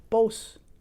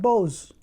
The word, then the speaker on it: Bose: that I love and cherish both not Bose okay pause all right